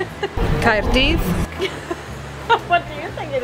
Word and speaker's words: Caerdydd: We roll the R's, so it's Caerdydd. Yes, so Caerdydd. Caerdydd.